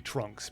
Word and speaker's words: Trunks: uh if you spelled if you transliterated his name literally from Japanese to English it would be like t o r a n k u s u but that's just like because of the way the Japanese uh phonetic alphabet works whereas his name is supposed to be trunks because that it's supposed to be the English word trunks just that's how they